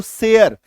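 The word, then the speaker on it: share: लगाते हैं ये देखो एस एच के साथ जोड़ा तो शेयर यानी कि एकार की मात्रा य र बन गया। एकार की मात्रा य र सेयर।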